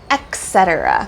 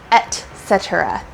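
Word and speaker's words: etc.: that point and so a lot of people want to say Etc but that X sound Etc but there's actually no X in there at all so you want to say Etc hydrogen carbon oxygen sulfur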